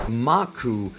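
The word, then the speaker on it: マーク: In Japanese, Mark is pronounced Maku, which is an anagram of the word Akuma, which means demon.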